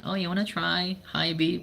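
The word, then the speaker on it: HiBy: that was a time I knew that it's pronounced hibi. We've been calling it he and so I went to the rep and then oh you want to try hibi?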